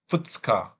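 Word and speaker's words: 二日: This is, I want to say, the second or 2 days, but I forget the pronunciation. Futsuka, yeah.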